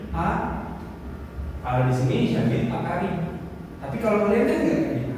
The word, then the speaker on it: Paris: lanjut saya siap silakan itu bacanya pari bukan Paris pari Jadi s-nya enggak usah dibaca jadi agak semar-sengar diikit